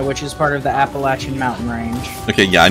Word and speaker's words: Appalachia: It is named after the Appalachian Indian tribe. It is Appalachia, not Appalachia. Not any other pronunciation that you may have heard.